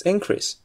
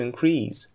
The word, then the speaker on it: increase: It's increase, but to increase, and decrease, but to decrease.